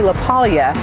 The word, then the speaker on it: LaPaglia: With me is Anthony Lealia. Did I say it right? You did. When you put that G in there, it kind of messes people up a little bit. Silent G. This is Silent G.